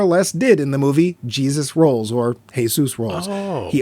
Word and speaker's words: Jesus: quite enough screen time with his character Jesus or he pronounces it Jesus so whatever asked if